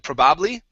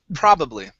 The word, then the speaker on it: probably: here is pronounced probably the stress is at the very beginning instead of probably probably uh probably okay one